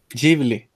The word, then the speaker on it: Ghibli: ¿Cómo se pronuncia? Ghibli.